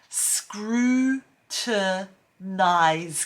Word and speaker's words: scrutinize: four we've got the word scrutinize screw to nice can you say that yeah look if you